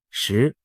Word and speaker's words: 石: 指胡锦涛，石在某些方言里读作西，石难逃，就